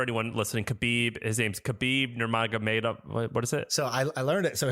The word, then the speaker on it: Khabib: So the background for anyone listening, Kabib, his name's Khabib, Nurmaga made, what is it? So I I learned it. So his So it's actually Khabib, not Kabib, even though even though it's a K.